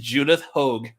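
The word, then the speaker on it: Judith Hoag: a statement damn we were way off it's pronounced Judith Hogue oh yeah we were so off uh well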